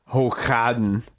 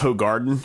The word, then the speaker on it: Hoegaarden: beers over there was Hooghaden. Hulk Hogan? I was in Belgium, so it's Hooghaden. Oh, Hooghaden. But you can actually buy it like at Publix and Ingles and stuff here. It's pronounced Hoegaarden here.